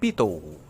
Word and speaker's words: Pitot: akan menjelaskan mengenai pipa pitot bacanya Pito ini penemunya adalah Henry Pito kebetulan tuh dari Perancis orang Perancis itu ndak tahu kok nggak suka baca deh ya jadi Bacanya adalah pipa